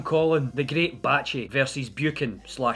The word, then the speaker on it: Buchan: It's Buchan. It rhymes with... I'd like to keep my monetization. But it's certainly, and I mean certainly not, Buchan. That sounds horrible. Buchan. It genuinely sounds like somebody's throwing up.